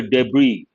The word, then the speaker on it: debris: the heavy vehicles under debris here the letter s is silent debris means what scattered